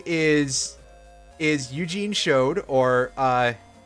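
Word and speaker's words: Chaud: His last name is actually Chode. His first name, his full name is Eugene Chode, or if it was a French word, it would be pronounced Cho, as I've said before.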